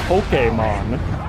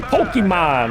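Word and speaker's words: Pokémon: Even though they tried they tried putting that little uh uh that little accent mark over the e, it never caught on. A lot of people just say Pokemon or sometimes Pokemon if they're feeling real spicy cuz in English we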